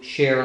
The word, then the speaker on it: Cher: on the philips hue share light so and it's spelled CH ER just like the Entertainer so that's its name